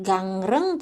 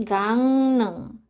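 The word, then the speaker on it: 강릉: Jadinya bukan gangreng, tapi gangneng. Sebenarnya ya Robun, ini kenapa dia berubah menjadi N? Karena kalau misalnya kita bacanya ini kayak gangreng gitu kan, dia bacanya itu agak sulit. Jadi orang Korea itu mereka menggantinya itu dengan huruf N supaya pelafalannya itu bisa lebih mudah dan lebih lembut. Dibanding sama gangreng, sama gangneng itu kan lebih lembut penyebutannya gangneng kan.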